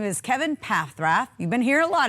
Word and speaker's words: Paffrath: You know, I love it because I'm on your website, and one of the very first things it says is Kevin Paffrath, pronounced Paffrath.